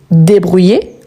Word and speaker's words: débrouille: Ici, on ne prononce pas le E à la fin, car il est muet, et le I, il est prolongé. Je me débrouille.